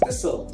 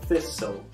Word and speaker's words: thistle: Thistle. Thistle. Yes, so you don't really say the T at the end. It's like a silent T. Thistle.